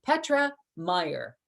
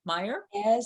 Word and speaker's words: Meyer: Petra Meyer. Yes, that's the proper way to say it. Meyer?